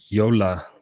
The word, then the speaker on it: Jolla: I had a very interesting chat with the CEO of a company called Yola, spelled Jolla, this week.